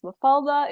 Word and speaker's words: Mafalda: so um about myself my name as you pronounce really well it's mafalda it's a very common Portuguese name uh there